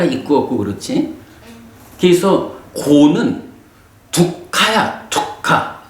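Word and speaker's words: dukkha: 그래서 고는 두카야, 두카. K가 하나 발음으로, 그러니까 받침으로 들어가. 두카.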